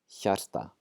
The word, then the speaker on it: hjarta: H and just saying hjarta, we're going to pronounce the H. And so instead of getting a y sound, we're going to get a hja, hjarta.